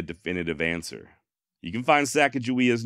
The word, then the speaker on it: Sacagawea: spelled eight different ways however not a single one of those spellings is with a J always with what appears to be a hard g g furthermore according to